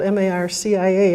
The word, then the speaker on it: Marcia: okay at the journal my name is marsha it's spelled m-a-r-c-i-a and i picked up the phone one day and a man said is this marcia and i said